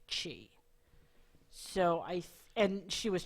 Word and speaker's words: Qi: be a video lineman I think that it's actually pronounced chee because I've seen it also spelled Qi and no she was